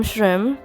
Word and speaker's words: Shreem: I'm Shreem, and yes, it's pronounced as Shreem and not Shreem. Now, I'll tell the story about my name some other day, but for today, it's about my art.